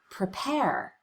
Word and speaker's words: prepare: The first syllable of the word prepare is the unstressed syllable. We cut the vowel, we rush through it as quickly as we can, even though the letter E is in the word as far as spelling.